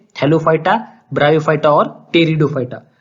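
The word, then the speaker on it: Pteridophyta: hello फटा ब्रायोफाइटा और टेरिडोफाइटा टेरिडोफाइटा की स्पेलिंग बी से स्टार्ट हो रही है लेकिन स्पीड है साइलेंट यह बात आपको याद रखिए उसका जो प्रोसेशन विजिट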